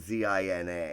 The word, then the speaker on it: Zina: But it's not spelt Xena like our Xena. It's spelled Zina.